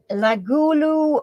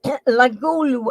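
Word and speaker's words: La Goulue: now Chris is on the board okie dokie lagulu was which French artists most celebrated model freaking keyboard all right lagulu I will spell that for you it's La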